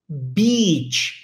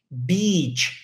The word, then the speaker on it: beach: Então é B-E-E, é um som de E, por mais que tenha I ali, né, escrito, o som é de E, Betch, Betch.